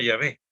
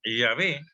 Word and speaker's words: Yahvé: Lo más probable es que se pronunciaba Yahvé, ¿no?